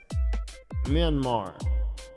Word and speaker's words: Myanmar: Myanmar.